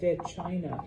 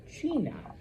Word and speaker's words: China: So, yeah, when you see it, don't be like, "Oh, China." No, China.